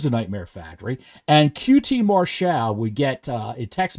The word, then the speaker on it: Marshall: QT Marshal as he's pronounced it's it's spelled Marshall it's pronounced Marshal if that's his real like that's